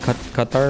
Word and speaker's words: Qatar: Because the actual Arabic pronunciation of it's like Qatar or something and cutter is the closest like English way to say it and Qatar is more incorrect.